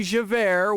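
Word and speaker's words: Javert: times are wasting that would be javair which is j-a-v-e-r-t and is already pronounced as air you know two former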